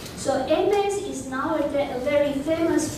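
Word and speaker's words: Hermès: So this one is held by...In French, it's pronounced Aimes. So Aimes is nowadays a very famous brand for luxury stuff, for bags.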